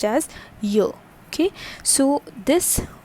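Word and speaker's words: yeux: okay y e u x and it is pronounced as yo okay so this y which is known as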